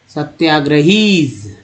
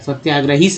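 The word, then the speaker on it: satyagrahis: वन ऑफ the foremost सत्याग्रहीज, इसको यहाँ ज उच्चारण किया गया है, सत्याग्रहीस नहीं, सत्याग्रहीज, ही वॉज, इसको यहाँ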